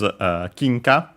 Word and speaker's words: 金貨: The word is kinka, as mentioned. It's a Chinese compound. In this case, accented on the first syllable, so be careful, not